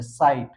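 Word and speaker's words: site: Next है साइट, साइट में भी आया है ई लास्ट में तो ये साइलेंट है, साइट।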